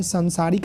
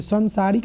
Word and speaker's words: सांसारिक: संसारिक आपको लिखना है। तो देखिए, संसारिक नहीं होता है, उच्चारण आपका सही हो जाएगा तो लिखावट भी आपका सही हो जाएगा। सांसारिक होता है।